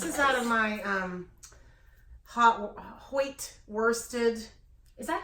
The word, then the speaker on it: Hoyt: out of my Hoyt worsted. Is that how you say that word? Hoyt, yeah, it's Hoyt. Houte?